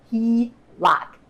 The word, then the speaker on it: HELOC: line of credit often called the HELOC and pronounced he rock basically is a loan which the lender agrees